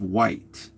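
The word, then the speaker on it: Wight: island called Isisle of White. And I think white is spelled W I G H T. Okay, so that's weird.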